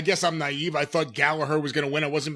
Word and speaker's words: Gallagher: you think about this I like Jack Gallagher or I guess Gallaher we're supposed to pronounce it as when he was